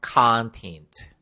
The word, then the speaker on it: content: 영어로 이름 절의 강세를 주시고 끝에가 없어요 그래서 content 이게 바로 이런 어 텐트라는 말이고요 그리고 또